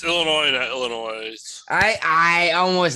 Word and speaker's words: Illinois: crimes according to the illinois state government this would have been classified as a hate crime it's illinois illinois i i almost said the same thing you don't pronounce the s we all know it